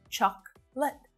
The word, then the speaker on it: chocolate: also really short both vowel sounds in these syllables are really short chocolate chocolate chocolate aspirin so this is another example